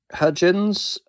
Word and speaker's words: Hudgens: And finally, for fantasy, sorry about that, we have Sucker Punch from 2011 with Emily Browning, Abby Cornish, Jenna Malone, Vanessa Hudgens, Hudgens, I think that's how you say it.